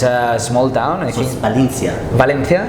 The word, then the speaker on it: Valencia: it's a small town valencia that's valencia or valencia in spanish we say valencia valencia but is but